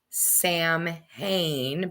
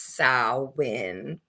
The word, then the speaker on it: Samhain: And most of that is because Halloween, or Samhain, as we witches say, is coming up. Yes, I know it is spelt as is you say Samhain, but it's not. It's Samhain.